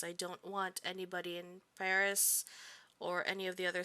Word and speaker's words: Paris: with the school accent paris perry rather if you want to go with the correction um of pronunciation we stayed at